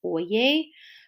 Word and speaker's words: Oyez: had been striking down various parts of the new deal and so FDR threatened to